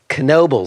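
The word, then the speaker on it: Knoebels: have no idea and that is how it's pronounced kenoby spelled k n o e b LS kobal and I'm not pronouncing it wrong but I have to say kenoby completely won me over I woke up in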